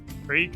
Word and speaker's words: creek: man's got a sword you pronounce it Creek or cek um Creek is the body of water and cck is like in your neck yeah well some people pronounce the body of water in the same way they would say I got a crick in my neck it's okay to be